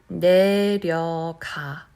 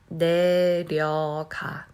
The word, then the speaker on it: 내려가: 내려가, 내려가, 내려가, 내려가. So now my tongue is touching the roof of my mouth.